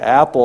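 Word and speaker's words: Appel: No, his name is Dr. Apple. It's spelled differently. It's A-P-P-E-L.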